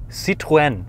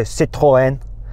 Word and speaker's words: Citroën: Okay, how do you say Citroën? Citroën. Okay, the French go Citroën. How do you say Renault?